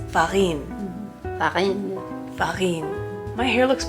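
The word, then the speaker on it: farine: that means flour and in French it's Farin Farin Farin my hair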